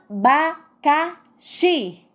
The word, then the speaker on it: abacaxi: tônica tu mora lá vamos falar abacaxi qual foi a sílaba mais forte que eu falei a sílaba mais forte com pronuncia e foi oxe então shi é a sílaba tônica que é a sílaba mais forte da palavra e esse vier me